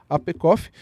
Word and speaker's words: APECOF: forças de segurança e é membro ativa da APECOF. Assim que pronuncia? Correto. É isso aí, APECOF, e foi reconhecida pela Darius como a Top 9 no Top 21 to Follow em 2025.